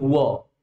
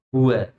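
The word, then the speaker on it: هُوَ: Jadi bukan qul huo. Jangan sampai membacanya qul huo. Enggak ada hua, Pak. Yang betul hua. Jadi qul hua qul huwallahu ahad.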